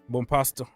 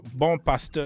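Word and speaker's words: Bompastor: Bonpasto. Who? Sonia Bonpasto. Ah, okay. Well, that is how you guys English pronounce. Bonpasto. For us French, bon pastor is like a good pastor.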